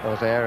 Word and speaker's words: Auxerre: Auxerre, as they pronounce it in Auxerre. Auxerre and most of the rest of France.